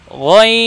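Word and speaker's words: غين: বলবো না গ এবং গয়নকে উচ্চারণ করার সময় আমরা ঠোঁট গোল করবো না গ বলবো না দেখুন ভাই গইন জি আরেকবার বলুন গইন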